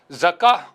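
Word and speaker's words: زكاة: அப்போ ஜக்காத்தன் என்று அரபியில் வந்தால் நம்ம ஜக்கா என்று நிறுத்திக் கொள்வது தவறு கிடையாது. எனவே சரியான உச்சரிப்பு வாசகம் என்பது ஜக்கா என்று சொல்வதுதான் என்பதை இந்த இடத்துல என்ன செய்யணும் நம்ம கவனத்துல கொள்ள வேண்டும்.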